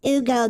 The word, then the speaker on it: Hugo: hey hugo hugo hugo because the h is silent so everyone you know